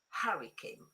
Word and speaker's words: hurricane: The H in this word is silent. Is it true or false? It's false. You pronounce it. Hurricane.